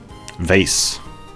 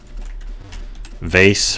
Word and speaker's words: vase: the point i guess vase vase is one of those words with four pronunciations vase vase vas and vaz i think it's kind